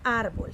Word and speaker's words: árbol: paul ar muy bien ar suena más fuerte entonces es una palabra grave mire para eso nos